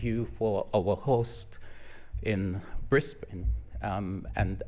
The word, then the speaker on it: Brisbane: for our host in Brisbane um and I've been trying to pronounce it it's brisban um yeah so got